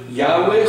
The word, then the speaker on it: Yahweh: And some people pronounce it Yahweh, some people call it Jehovah or Yehovah. And that's really because the word is actually YHWH. There are no vowels in it.